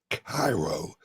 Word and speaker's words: Cairo: And anyone curious why I am drinking out of a Caro, Illinois, or as I pronounce it, Cairo, Illinois mug.